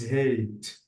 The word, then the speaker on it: hat: So hat, notice that it's not like the way that I have to pronounce the vowel letters. Why? Because hat, we have no E. But with E, we have to read the vowel as it is. The hat becomes hate.